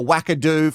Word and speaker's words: wackadoo: Make sure you like this video and let us know if you're a wackadoo.